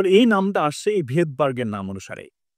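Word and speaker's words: Svedberg: এই যে ভেদবার্গ বানানটা, এই ভেদবার্গ বানানে কিন্তু আবার সামনে এখন এস আছে। যেটা আমরা প্রনাউন্সিয়েশন সময় করব না প্রনাউন্সিয়েশন।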